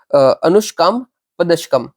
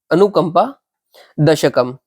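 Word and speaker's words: अनुकम्पा दशकम्: इनके दूसरे वर्क्स कौन से फेमस है, तो दलवा दक्षकम एंड अनुष्काम पदशकम, सॉरी यार गलत प्रोनाउंसिएशन है, इट शुड बी अनुकंपा अनुकंपा दशकम।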